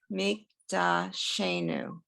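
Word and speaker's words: מקדשנו: take this one syllable at a time. Meek, Meek da, da new. Mikdashenu. right? So if I say this word mikdashenu, you see how I put the emphasis on this word that Mik- has the, what we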